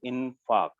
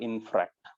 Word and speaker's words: infarct: It is infarct. F-A-R-C-T. It is not infract. Many of our students write this term. This is wrong.